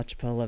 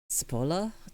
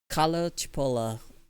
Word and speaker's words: Cipolla: of stupidity and how Chipola made, Cipolla? C-I? How do you pronounce C-I? Is it Chi? Chi? Carlo Cipolla It's a ch sound, right? Right?